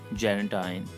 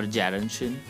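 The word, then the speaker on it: Gerontion: Poems, this volume had Gerantine or Gerantian, you can pronounce it, and Burbank with a Baedeker, Sweeney Erect, Cooking Gas, Sweeney Among Nightingale.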